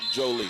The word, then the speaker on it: Jolie: Excuse me, Jolie. I've been wanting to say Juliet, but Jolie, like Angelina Jolie, for those out there